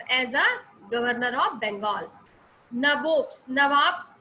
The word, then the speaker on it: nabobs: Nabobs, नवाब को English में they supposed to pronounce it nabobs, ठीक है.